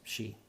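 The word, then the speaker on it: sidhe: d h e um so you pronounce it she but if you were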